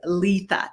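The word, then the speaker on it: Litha: solstice and to it the way um it's pronounced is Letha l i t ha and I wanted to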